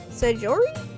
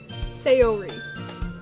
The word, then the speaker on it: Sayori: I say scori as in sajori. Sajori. You say it like sajori. Am I pronouncing that right? I'm not sure. No. Okay. I didn't think so. Sayori. Sayori.